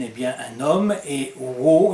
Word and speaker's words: Waugh: bien un homme et euros il disait lui-même de prononcer son nom w à uré h comme un léger aboiement était ce bien nécessaire